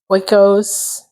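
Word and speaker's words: Oikos: And then we have some triple0ero wos. If I'm pronouncing that correctly, there's no N. It's O I K O S.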